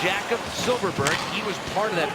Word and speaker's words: Jakob Silfverberg: It's pronounced Jakob Silfverberg.